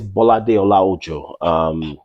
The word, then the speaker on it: Bolade Olaojo: So that's BOLADE OLAOJO. It's spelled as it's pronounced, Bolade Olaojo.